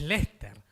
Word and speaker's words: Leicester: en esto, es que hay letras que ni siquiera las pronuncian. O sea, el equipo de fútbol que nosotros llamaríamos Leicester, si lo leemos en castellano, es Lester. Sí, sí. Le faltan 5 letras.